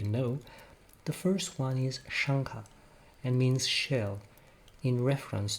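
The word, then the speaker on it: Śaṅkha: the first one is shangha and means shell in reference to the shell-shaped knot under irish's headrests the actual phonetic pronunciation is shankar and could be spelled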